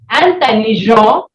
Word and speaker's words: intelligent: Moving on to the next one, we have intelligent, intelligent. The pronunciation of IN is N.